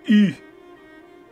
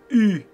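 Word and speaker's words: Hüe: It is pronounced E. So it would be E.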